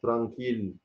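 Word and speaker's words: tranquille: لكن في كلمات بتنطق فيها ال وهي فيها نفس الحروف، زي كلمه ترانكيل، دي حالات استثنائيه.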